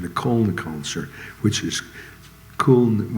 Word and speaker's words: Köln: I think it's the piano player I used in the Köln concert, which is, Köln was German pronunciation of Cologne, which was one of the greatest solo live albums ever recorded.